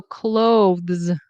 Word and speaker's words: clothes: So clothes, clothes. Very often you'll just hear. Okay, so this is a Z sound, by the way.